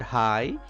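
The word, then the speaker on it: high: letters it is hi in this word hi gh is silent you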